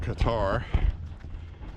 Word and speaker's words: Qatar: big thing out of Cutter. Qatar, whatever you want to pronounce it. I've always pronounced it Qatar. Seems like the rest of the plane saysQatar. Q A T A R. Whatever the case is.